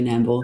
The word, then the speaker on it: Nambour: There was one quite good study that was done in Australia, in Nambour. Am I pronouncing that right? Nambour? You are. It's not far from me, actually, Nambour.